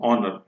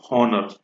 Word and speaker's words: honour: तो honor, HONOUR, pronunciation है honor, not honor.